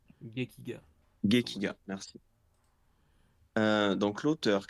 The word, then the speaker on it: Gekiga: Comment ça se prononce ? Gekiga Gekiga, merci.